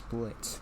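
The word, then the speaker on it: Blitzø: running the company is blitz the o is silent he has an adopted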